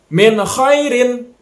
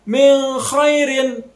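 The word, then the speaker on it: مِنْ خَيْرٍ: cara bacanya minhairin minhairin Jelaskan antara non nya noona jelas minhairin jangan minus fairin atau dipantulkan itu yang salah pembacaannya ataupun didengungkan Mi khairin Itu juga salah itu yang betul secara jelas dibacanya minhairin hop Nun minhairin nun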